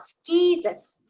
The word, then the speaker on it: scissors: Because the C is followed by a I, that's why the C says the soft C sound, and the word is read as scissors.